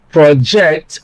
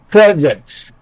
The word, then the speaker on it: project: For example, project as a noun, project as a verb. In this case, stress on the first syllable makes the word a noun, project. Stress on the second syllable makes the word a verb, project.